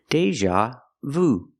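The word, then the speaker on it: déjà vu: I'm having Deja Vu pronunciation Deja use the long a like play and say day Deja use the z sound like an usual Deja Deja Vu I'm having Deja Vu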